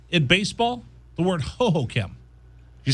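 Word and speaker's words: Hohokam: I broadcast games there for a long time, and it was ho-ho-cam.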